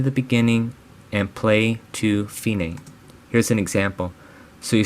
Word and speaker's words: fine: Dici al fine, which stands for da capo al fine. This is pronounced fine, not fine.